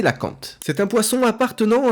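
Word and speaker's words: cœlacanthe: petit subterfuge mais voilà ça se prononce bien c'est la cante c'est un poisson appartenant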